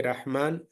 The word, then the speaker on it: Rahman: In the name, when you see Rahman, the ra is heavy.